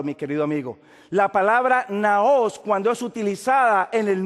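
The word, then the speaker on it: ναός: la palabra naos así como usted lo encuentra pronunciado naos n a o s Esa es la palabra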